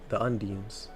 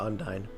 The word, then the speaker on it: undine: The element of water is controlled by the nymphs of the water or the un the undines or the undying.